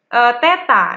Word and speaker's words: theta: Tetapi kita tidak tahu ini sudut berapa ini karena hanya diketahui theta. Nah, untuk 0 ini, 0 ada garisnya ini, itu dibacanya theta.